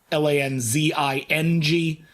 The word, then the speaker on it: Lanzing: find i'm a jackson lansing uh on twitter uh l-a-n-z-i-n-g everyone likes to put an s in the middle or take out the n so that my name rhymes with danzig it doesn't lanzing so you can go